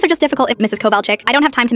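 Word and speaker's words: Kovalchik: It's Coal Chick?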